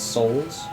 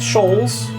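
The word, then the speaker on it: Shoals: Looks like my map is a little me trying to pronounce souls. No, just sholes.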